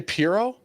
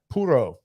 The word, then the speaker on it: puro: how do they say wait are you not supposed to say Piro no it's like Puro it's like a cat purse yeah it's like poodle